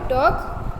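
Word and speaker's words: talk: फिर लिखा है look at the word टॉक हर एल is silent.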